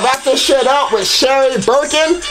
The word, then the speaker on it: Sherry Birkin: We're gonna try to wrap this shit up with Sherry Birkin. I said this bitch's name wrong last time, I know. I said fucking Shirley Birkin, bruh.